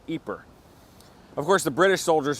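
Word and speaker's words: Ieper: But here in the Dutch-speaking part of Belgium, you're more likely to find it spelled I-E-P-E-R, pronounced Ypres.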